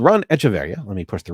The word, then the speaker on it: Echeverria: Ron Echeverria. No, I'm sorry. That went French. Echeverria. You can find it on Echeverria. Yeah, because you have the accent over the I.